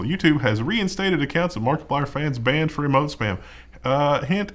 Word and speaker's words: Markiplier: guy's username I'm markiplier I read it is markiplier that's like I put an emphasis on the I hate that definitely market